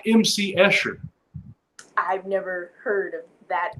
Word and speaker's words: Escher: Looks like it's spelled Esther, but it's Escher.